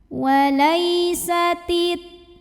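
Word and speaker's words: وَلَيْسَتِ: Walai, lai ada huruf lin, sebab ada ya sukun yang didahului baris fathah. Cara bacanya cukup dilembutkan. Walaisatit.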